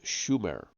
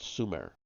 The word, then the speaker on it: Sumer: land and Su ex except for mispronouncing the name it should have been Schumer not Sumer opert was right Sumer